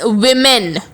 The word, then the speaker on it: women: Focus on the pronunciation. It's women.